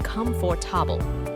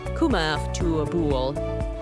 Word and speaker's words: comfortable: People often say comfortable, but we say comfortable, only 3 sounds.